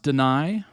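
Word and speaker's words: Danai: I think it's pronounced Deny.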